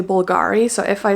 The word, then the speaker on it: Bulgari: Bulgari ones bulgary Bulgari I think you should say bulgary but I I tend to say Bulgari so if I say